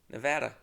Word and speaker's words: Nevada: Nevada. That's how you're supposed to pronounce it.